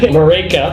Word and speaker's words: Marÿke: Marÿke. Yes. Thank you. Marÿke, it rhymes with Jamaican.